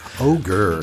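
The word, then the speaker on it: ohGr: It's pronounced Ogre, just like the lead singer's pseudonym, but it's spelled O-H-G-R. Ogre.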